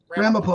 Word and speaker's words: Ramapo: Ramapo.